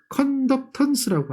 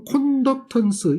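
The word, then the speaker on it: conductance: 그래서 이걸 컨덕턴스라고 하죠. 컨덕턴스. 이해하셨죠? 컨덕턴스. 턴스가 많아요. 또는 콘덕턴스 이렇게 얘기하기도 하죠. 콘덕턴스, 컨덕턴스 영어 발음상 차이인데 그렇게 저항이 역수되는 개념으로 직렬 연결을 해요.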